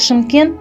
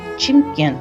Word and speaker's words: Шымкент: Город Шымкент называют еще Чимкент, но это скорее нюансы произношения.